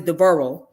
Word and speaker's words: Devereux: attributed to his son, Devereux, and it's pronounced as Devereux because it's French.